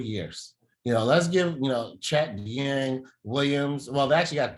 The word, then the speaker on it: Dieng: Dieng.